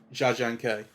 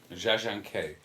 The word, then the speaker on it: Jia Zhangke: Well, what it made me feel is the how do you pronounce the director's name? Jia Zhangke. Jia Zhangke.